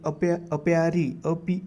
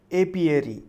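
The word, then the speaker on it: apiary: Then next word है अप्यारी. अपियारी, ठीक है. एक्चुअली उसका प्रोनाउंसिएशन है एपियरी. एपियरी ये प्रोनाउंसिएशन होता है उसका, ठीक है.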